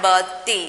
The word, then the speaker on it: birthday: Planning my birthday. Here R is silent. One more thing, R is silent here. Don't say birthday.